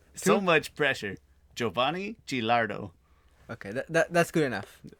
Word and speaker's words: Giovanni: Giovanni Gilardo. Okay, that's good enough. We accept Don't it. say it's good enough. It's perfect. Is it? Wait, you said Giovanni. Yeah, you don't pronounce the I really.